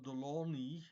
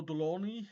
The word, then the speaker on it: Delaunay: the word uh but the name is Russian and the spelling looks French but since it is